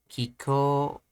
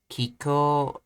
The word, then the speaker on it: 気候: Kiko. 気候、 Kiko. Kiko. See, this is saying, is it Atamadaka? And this is saying, is it Heiban? 気候、 Kiko. I believe this is Atamadaka. Kiko. No, it's Heiban.